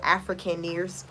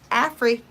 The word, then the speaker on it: Afrikaners: Afrikaners is pronounced. Thank you so much, Gobble. Afrikaners. Afrikaners.